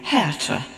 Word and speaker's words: Hertha: my German grandmother but the name is spelled h-e-r-t-h-a like Bertha with the first letter changed and I realized that English people were pretty much bound to call me hertha and that I just